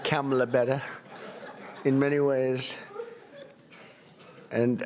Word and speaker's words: Kamla: first name that we have, but fortunately it's pronounced different. It's Kamala. It's supposed to come a la. I like Kamala better in many ways.